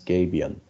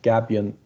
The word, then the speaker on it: gabion: gapion guardian structures or americans say sometimes gabion gapion is a kind of maybe in turkey they also say gapion this is turkish can be a turkish word also but gabbian commonly used uh as i told